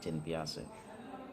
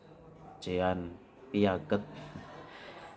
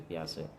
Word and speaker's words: Jean Piaget: yaitu tulisannya ya cara bacanya Jin piase banyak mahasiswa yang membacanya salah itu ya Jean Piaget ya ini saya juga dulu pernah membacanya seperti itu tapi dibetulkan oleh salah satu dosen saya bacanya teori piase yang terkenal dengan teori